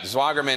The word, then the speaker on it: Zwagerman: Zwagerman. Am I pronouncing that correctly? You sure are. All right. Zwagerman is a civil rights attorney in Des Moines.